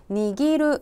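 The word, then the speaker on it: 握る: " 니기루 " 라고 읽습니다 .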